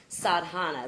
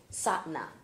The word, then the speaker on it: Sadhana: night we read about sadana that's the way I pronounce it MTA was here and it's pronounced satna satna so instead of Satan I guess the ha is not pronounced so it's sat sat